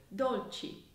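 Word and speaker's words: dolci: cappuccino and fettuccine and you can also hear this sound in the word don't cheat which means desserts the last syllable chi is spelt C I so we get the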